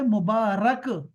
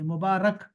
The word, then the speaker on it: مبارک: عیان ہے۔ اور دوسرا اس کا جو تلفظ ہے وہ ہے مبارک، را کے اوپر زبر پڑیں گے، مبارک۔ وہ وہ ہوتا ہے